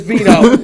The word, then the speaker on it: Vito: It's called the Vitos. My name is Vito. It's actually Vito, but you know.